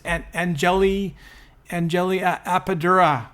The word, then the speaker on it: Anjali Appadurai: I always get her name wrong. It's Anjali Appadurai, right?